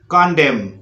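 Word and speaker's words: condemn: तो इसको बोलना है आपको गवर्नमेंट और कॉलम, कॉन्डेम। तो इस तरह से उच्चारण करना है।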